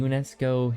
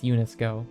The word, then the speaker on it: UNESCO: what are they the UNESCO heritage site right am I pronouncing that right I want to say it's unisco but um any location on